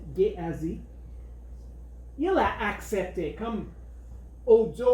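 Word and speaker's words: Guéhazi: Le serviteur de Élisée, il s'appelait Géhazi, je crois que c'est la bonne prononciation en français, Géhazi.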